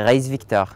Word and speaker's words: Ghaïs-Victor: Dis-moi comment on prononce ton prénom? C'est Raïs Victor. Ah, les deux, ok.